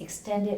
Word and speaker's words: extended: Yes, and the extended hour has the second syllable stress. Which Extended.